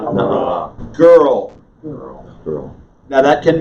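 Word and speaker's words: נער: Na'ar. Na'ar. Hear how that ayin is kind of a stop? Na'ar. Na'ar. Ah, I see. That is, Na'ar is a boy, a youth. Na'ara. Na'ara. Na'ara. Not Na'ara.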